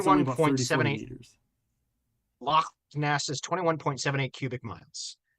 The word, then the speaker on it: Loch: Loch.